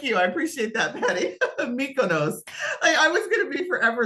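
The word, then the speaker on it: Mykonos: chat like I'm going to go and I'm meus I wish like someone would come off a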